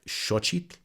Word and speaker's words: Xochitl: a sound that approximates the correct sound of the letter X, and that is SH, as in shoe. So you'll get words like xochitl, or xoloitzcuintle, or xochimilco.